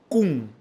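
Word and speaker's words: כון: La palabra firme en el Strong hebreo en su apartado 3559 bajo la transliteración al español se escribe y se pronuncia kun k u n y define firme, preparado, confirmado, ser erecto.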